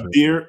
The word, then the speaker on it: Kabeer: I just don't want to put Kabeer, it. Kabeer Baja, the G is silent.